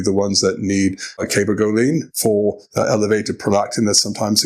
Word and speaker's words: cabergoline: I think I pronounce it Cabergoline, but it's the CER, right? Is that the one we're talking about? Yeah. Yeah, just different pronunciation.